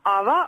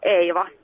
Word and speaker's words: Ava: I'm uh you can say Ava or Ava. How would you like me to say it because it's your name? Uh please say Ava because we're in UK now.